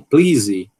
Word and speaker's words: please: E a gente pronuncia como please. Please. Mas olhe só a complicação, ó. Um pã aspirado, um l desvosiado, um i longo e para top it off, né?